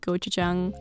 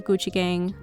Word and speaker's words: gochujang: place where you can buy gochujang or Gucci gang like I used to pronounce it so I went for